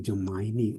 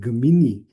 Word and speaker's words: Gemini: Bacanya ini Jemaini bukan Gemini. Jemaini.